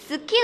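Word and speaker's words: 好き: 的发音，就是你们把牙齿呢收起来，然后把嘴型变小，发一个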